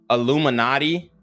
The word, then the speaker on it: iilluminaughtii: from a channel called Illuminati and it's spelled i-i-l-l-u-m-i-n-a-u-g-h-t-i-i so a play on the words naughty which means I guess bad